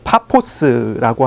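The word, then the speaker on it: Paphos: 해안가에 있는 바보라고 하는 도시까지 가게 됩니다 이제 파포스라고 하는 발음인데요 파포스 지금 우리가 파포스라고 발음하죠 근데 이게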